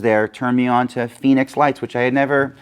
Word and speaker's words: Fenix: of this thing so this is the phoenix f-e-n-i-x is how they spell that uh pd like police